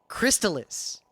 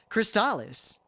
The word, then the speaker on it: Crystalis: Where I grew up, everyone pronounced it Crystalis. But in other places of America, like down in Philly, it was pronounced Crystalis.